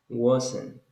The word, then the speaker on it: wasn't: And was is not was. Is not. It's not like a. It's like between a and o. So you say wasn't.